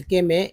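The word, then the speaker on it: calm: यहाँ पर देखिए एल एम है, एल एम में भी एल साइलेंट है, पढ़ते हैं काम, ठीक है, लेकिन हमेशा एल का प्रयोग होगा।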